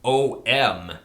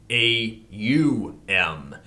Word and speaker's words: Aum: The right use is Hindustani, is AUM. Therefore, we will consider it in this light. A is a guttural sound. As you pronounce it, you will note it starts in the throat.